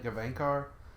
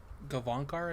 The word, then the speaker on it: Gavankar: what is it Janina gavankar I think she was in that am I saying her name correctly sure Jenny Thomas write to me Devon car I believe is how it's pronounced yeah Senate right so